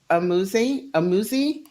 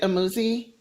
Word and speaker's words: Amuzie: Is it Amuzie? It's Amuzie. Or am I saying it wrong? Amuzie. Thank you. Yeah, it's a fake French name. No, it's an Igbo name.